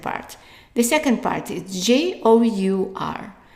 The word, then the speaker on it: jour: The second part is J-O-U-R. So the O-U here is pronounced as a long oo.